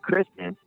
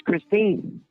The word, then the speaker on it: Christine: You didn't even say her name right. You kept saying Kristen, and her name's Christine.